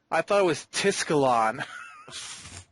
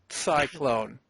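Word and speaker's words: Tsiklon: I thought it was Tiscalon. You gotta understand, she's a whirlwind person. Like, she makes a whirlwind around her body. Right. And so her name is spelt T-S-I-K-L-O-N. Cyclone.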